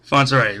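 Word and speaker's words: Fontsere: I may say his last name wrong. Fonser, did I say it right? Fonser, right.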